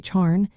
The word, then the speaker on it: Satharn: Saturday is called Satharn, pronounced as Charn, and it comes from Saturn's day, similar to English.